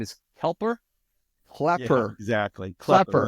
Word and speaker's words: Klepper: No, and pronunciation of the last name is Klepper? Klepper.